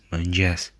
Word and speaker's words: mëngjes: mëngjes, This letter represents a schwa sound, and you'll see this a lot in Albanian. But notice that it's reduced and almost not heard at the end of words. mirë, And notice that this digraph is pronounced as a palatal ja, similar to j, except that the tongue is retracted towards the palate.